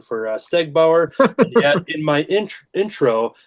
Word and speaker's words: Stegbauer: I like that before the record I was just uh making sure that we had the pronunciation for Steg Bower and yet in my intro I couldn't even pronounce artist.